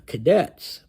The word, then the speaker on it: Kadets: puts it well so let's talk about the cadetes it's spelled just like the English word Cadet except